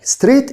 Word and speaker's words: straight: straight الجي اتش سايلنت.